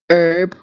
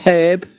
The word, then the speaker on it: herb: Isn't it funny, like different, like Americans say herb, we say herb.